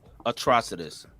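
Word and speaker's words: Atrocitus: There's also new casting for lanterns that people are also suspect the actor is playing atrocious. Atrocidus. Is that how it's pronounced? Yes.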